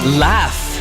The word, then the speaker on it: laugh: book roof good did you know that sometimes pH or G can make a sound like f do you mean right read the words where pH or GH makes the F sound photo laugh phone